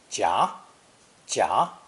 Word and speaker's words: 夾: attack from both sides this character is usually pronounced second tone jia jia in taiwan or first tone in mainland china everyone knows there are